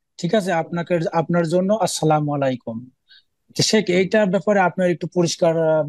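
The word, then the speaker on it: السلام عليكم: বাক্য কিন্তু সেটাকে যদি বিকৃত করে দেয় যেমন আসসালামু আলাইকুম সালাম আলাইকুম তাহলে সালাম আলাইকুম মানে মরণ হারাম গুনাহ কাজ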